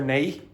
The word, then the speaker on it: now: What I heard there, nay. So the pronunciation of now changes in Northern Ireland. So it's not going to be now. It's going to be nay.